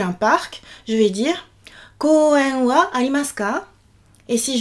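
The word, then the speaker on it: 公園: Koen. 4 syllabes. Donc d'abord on allonge le O du ko et ensuite on termine par e, et le est une syllabe à part entière. C'est pas koan ou koan, mais koen, voilà.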